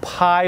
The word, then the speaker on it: Pye: this is utrocrine purpurium the joe pi weed and pie is spelled p-y-e and that actually means